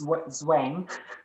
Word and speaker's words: Zwang: but i know that english people have trouble saying that that very harsh z sound you you would say it's zwang and i would say